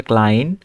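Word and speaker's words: klein: তো আই থাকলে আই হবে। তারপরে এই যে এখানে এটার উচ্চারণ হবে ক্লাইন। এই যে আই কিন্তু উচ্চারণ হচ্ছে।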